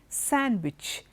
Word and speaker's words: sandwich: sandwich not sandwich okay sandwich Wednesday handsome handkerchief in all these letters the D is silent okay and that is